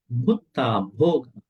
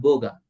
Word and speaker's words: bhoga: Every word has to be pronounced with an aspirate, a breathing voice. Not Buddha, Bhutta, not Boga, Bhoga, not Bata, Bhata, not Bacha, Bhacha.